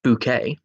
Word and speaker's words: Bucket: sitcom keeping up appearances mrs. bucket pronounced bouquet is one of the